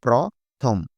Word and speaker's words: প্রথম: লেখার সময় আমরা লিখব অ। কিন্তু উচ্চারণ করার সময় আমাদের ও হয়ে যাবে। স্বাভাবিক বানান আমরা দেখি। প্রয়ফলা প্রথম। কিন্তু উচ্চারণ করার সময় আমরা কি করি? প্রয়ফলা ওকার দিয়ে উচ্চারণ করি।